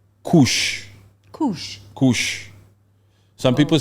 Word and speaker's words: kush: So anyway, the craziest thing happening there now is this particular drug called Kush. Kush. Kush. Some people say Kush, some people say cash.